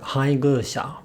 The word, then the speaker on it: Hayabusa: and pitch accent pattern I was able to fix my pronunciation for Hayabusa by saying my pace and then humming the word a few times beforehand doesn't my pace my